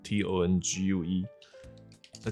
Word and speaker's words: tongue: Tongue 就是这个舌头，它的发音有点 tricky， T-O-N-G-U-E。那 G-U-E 没有音，一般英文字里面 G-U-E 结尾的字都是没有发音的。好比说像这个字。以前有个朋友，他还会把它念成 legal 啊，legi 啊，没有，就是